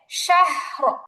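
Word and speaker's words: شهر: আর ঠিক ডানে জবর আসছে, এজন্য এই রটাকে মোটা করে পড়তে হবে। উচ্চারণ হবে শাহর। উচ্চারণটা খেয়াল করি, শাহর শাহর শাহর, শাহর।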